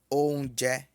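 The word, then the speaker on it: oúnjẹ: Comida pronuncia-se onje.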